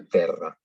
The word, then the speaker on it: terra: Y solamente decimos R cuando está doble, como en el caso de terra. Luego tenemos la T. La T más cualquier consonante o vocal es como una T nuestra, ¿no? Terra, per transivit, etc.